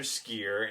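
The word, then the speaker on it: Sskeer: jedi master skier and that's just how you say his name you got to give it the longer s and the way that the drunker talk there are a lot of long s's so i'm just gonna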